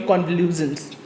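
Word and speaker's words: convulsions: इसकी correct pronunciation क्या होगी, कॉन्वल्यूजन्स, ठीक है, देख लीजिए, कॉन्वल्यूजन्स।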